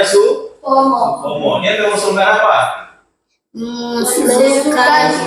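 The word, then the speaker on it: Soepomo: asas asas yang kedua ada siapa tulisannya Suomo, bacanya Suomo. Supomo.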